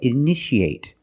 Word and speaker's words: initiate: You see T-I-A. How do we pronounce it? That's right. Shh, shh. So how do we pronounce this word? That's right. Initiate.